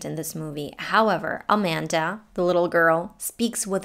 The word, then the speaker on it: Amanda: lemon the name amanda the first and the last a are the schwas and the middle one is a short a sound a amanda and her last name